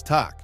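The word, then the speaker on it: takk: Hello is pronounced halo, thank you is tak, yes is ja, no is nei, and goodbye is segdu bless.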